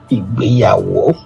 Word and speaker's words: Igbeyawo: It is pronounced Igbeyawo. Don't worry. Yeah, I'm very sure you're going to get it as time goes on. Yeah. So the reason why I write Igbeyawo is that when I